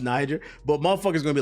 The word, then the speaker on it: Niger: I know that that's pronounced Niger, but motherfuckers gonna be like, oh, I didn't know.